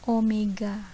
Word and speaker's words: omega: w tapi ujungnya itu enggak ketemu nah ini bacanya Omega nah Perhatikan gambar berikut ini Ini ada dua